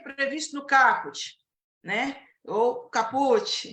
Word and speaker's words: caput: incisos e a linhas caput Tem muita gente que fala caput a pronúncia correta é caput o que que é